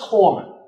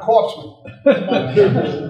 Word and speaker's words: corpsman: And it's pronounced corpsman. Not corpsman.